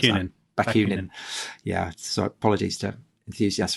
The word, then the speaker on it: Bakunin: How do you pronounce that? Bakunin.